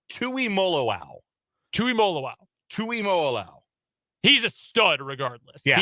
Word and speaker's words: Tuimoloau: By the way, it is Tuimoloau.